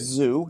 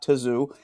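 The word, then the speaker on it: Tszyu: It's Zoo, not Tazoo.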